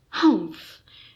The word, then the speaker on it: humph: read the story aloud please pronounce humph exactly as it is spelled for that is how he said it humph do you know until